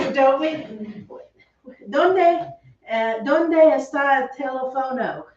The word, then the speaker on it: teléfono: They know what you mean, but that's not how you say it. How do you say it? Teléfono. Now, it ends in a vowel, so it should fall right here. It should fall. That's why people say telefono, but it's incorrect because there is a written accent.